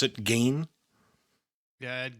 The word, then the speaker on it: Gein: Is that how you pronounce it? Gein? Yeah, Ed Gein.